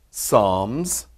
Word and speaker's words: Psalms: it looks like psalms starts with a p but the p is silent so we say job psalms proverbs ecclesiastes see if